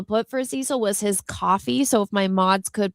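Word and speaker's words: Ko-fi: The only one I wasn't able to put for Cecil was his coffee.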